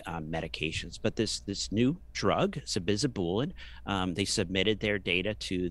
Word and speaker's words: sabizabulin: I think initially I thought there was a T in there, but I would say sabizabulin with an L.